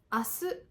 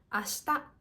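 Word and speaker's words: 明日: Chữ Kanji này có thể được đọc là "ASU" hoặc "ASHITA". Nhân viên này nói: "ASU."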